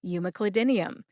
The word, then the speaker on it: umeclidinium: Umeclidinium has 6 syllables. U like the letter in the alphabet, U. M like money. Cli like clip, as in you clip or cut a recipe out of a magazine, Cli.